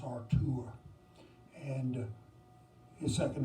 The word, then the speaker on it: Artur: He's German, and his first name is pronounced Artur.